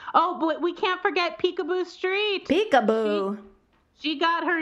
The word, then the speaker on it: Picabo: And she literally got her name because she loved to play peekaboo. It's spelled Picabo, but her name never made it to the top 1,000s, alas.